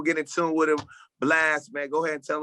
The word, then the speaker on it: Blxst: no a it's blxst a lot of people be thinking my name blix when they read it but it's pronounced blast no doubt bro hey